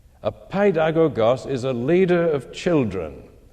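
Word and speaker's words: παιδαγωγός: That word is translated from a Greek pronounced paidagogos. Didn't have time to say much about it last week. Paid, you recognize as in pediatrician, pedodontics, means a child. The second part, agogos, means a leader.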